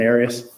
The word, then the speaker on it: Arias: know her last name areas areas have you ever heard pronounced any other way other than Aries no okay um how